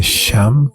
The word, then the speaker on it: Shyam: E por ele usar essas palavras, ele é chamado de Shyam. actually this is Sham. It's Sanskrit word Sam or usually Sam. Sam. Just the pronunciation little bit different.